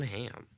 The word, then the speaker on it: Hamm: The fuck is John Hamm? I could see that. Is it ham like the ham? Ham with Hamm two with M's.